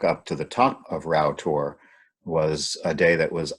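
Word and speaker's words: Rough Tor: It's called Row Tor. It's spelled R-O-U-G-A, but it's pronounced Row.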